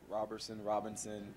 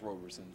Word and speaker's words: Roberson: To be honest, I've heard Robinson, but it's pronounced Roberson.